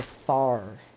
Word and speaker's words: Thar: Meet the Thar. Yeah, it's It's pronounced like that.